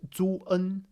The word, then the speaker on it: zun: But the E is still actually pronounced. Zun, Zun, Zun, right?